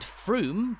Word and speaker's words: Frome: haven't mentioned about the town is its unusually pronounced name said Froome but spelled f-r-o-m-e frome's name has been catching